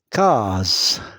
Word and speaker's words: case: Case case A et E sont des voyelles. Donc S se prononce Z.